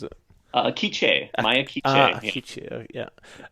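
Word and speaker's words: K'iche': Is it pronounced quiche or how do you pronounce it? Kiche, Maya Kiche.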